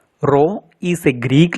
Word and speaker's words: rho: Rho is a Greek letter. It is not P but pronounced as rho, R-H-O, where H is height, rho is density, G is acceleration due to gravity.